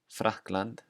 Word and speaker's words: Frakkland: The first rule is at the beginning of words, it will always sound like the English F. So here are three examples. Fyrir, fyrir, Frakkland, Frakkland, fáni, fáni.